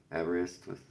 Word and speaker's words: Aberystwyth: Aberystwyth.